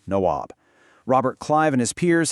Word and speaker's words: Nawab: derogatory term for them, nabobs, which was a mangled British pronunciation of the Indian title Nawab.